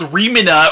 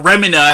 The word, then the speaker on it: Remina: as this planet called rimina or remina however you want to pronounce it is moving throughout the